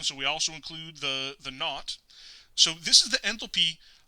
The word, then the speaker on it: naught: To designate that we have a standard state enthalpy, we put 0 as a superscript to the H, and we pronounce it naught.